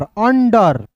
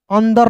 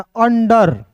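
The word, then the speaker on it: under: तो पढ़ेंगे दोस्तों roots you एन डी ई आर अंडर अंदर नहीं यहां पे डी का उच्चारण द भी होता है डी का उच्चारण ड भी होता है।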